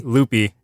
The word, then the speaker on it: Lupe: Lupe whoever that was loopy sir they pronounce it ly sorry loopy uh so I couldn't